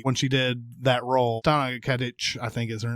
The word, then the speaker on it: Stana Katic: But Stana Katic, I think is how her name is pronounced. Stana Katic.